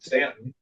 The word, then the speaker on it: Staunton: I was born in the Shenandoah Valley, Virginia, near Stanton, which is spelled Staunton, but if you're a native, you call it Stanton.